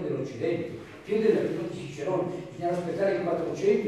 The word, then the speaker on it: Cicero: Per di più con la pronuncia tedesca, Cicero, non Cicero, Cicero.